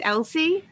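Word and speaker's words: LC: the letter c because it can be pronounced like the name Elsie so just like KT there's Elsie and it stands for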